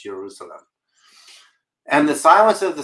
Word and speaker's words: Jerusalem: And believe it or not, Jerusalem was not pronounced with a J either. The city of Jerusalem was Jerusalem. Jerusalem. So there is no J.